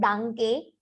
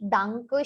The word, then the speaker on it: danke: Whenever you have e in ending of German spelling, majority times the pronunciation is ended with a. So it is not danke, it is danke.